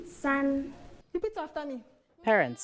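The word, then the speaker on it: 三: How do you pronounce 2? And 3? San.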